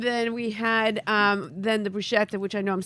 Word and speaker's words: bruschetta: And then we had then the bruschetta, which I know I'm saying wrong.